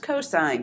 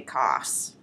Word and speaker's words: cosine: which is abbreviated cos that is still pronounced cosine do not say costs and finally tangent which